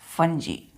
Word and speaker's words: fungi: क्या करेंगे, प्रोनाउंस्ड करेंगे हम लोग इसको एज, प्रोनाउन मतलब उच्चारण करेंगे, FUNGI को FUNJAAEE, फंजी।